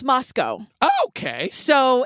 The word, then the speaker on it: Moscow: But it's pronounced like Roscoe the bedbug sniffing dog.